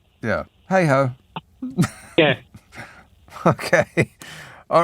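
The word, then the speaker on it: Hayhoe: you you certainly can h a y h o e hey ho yes yeah hey ho yeah okay all right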